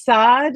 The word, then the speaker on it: Saad: gotten so, I've gotten so used to just saying it as Saad that I'm like, it's not bad, but I've gotten so used to just saying it as that.